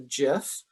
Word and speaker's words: GIF: every time i say jif the original creator of the file form pronounced it jiff and so also this